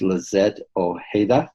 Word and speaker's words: Lizette Ojeda: Her name is Lizette Ojeda. Did I pronounce that correct?